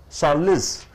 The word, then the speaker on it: solace: Solace. Solace. You pronounce it as solace. Solace, two sounds are there. Solace, solace is a noun.